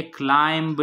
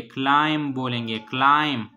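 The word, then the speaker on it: climb: से पहले एम हो, जिस तरह क्लाइम में है, क्लाइम में लास्ट में बी है और बी से आगे एम है, तो ये बी जो है ना वो साइलेंट होगा. सही है, तो ये हम बोलेंगे क्लाइम्ब नहीं बोलेंगे, क्लाइम बोलेंगे, क्लाइम.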